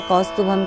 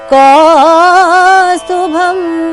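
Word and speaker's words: कौस्तुभम्: वक्षस्थले कौस्तुभम, मैंने क में औ की मात्रा है कौस्तुभम के, तो औ की मात्रा को बढ़ाया कौस्तुभम।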